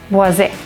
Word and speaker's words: Boise: So some will say that there is no Z in it, so clearly it must be Boise.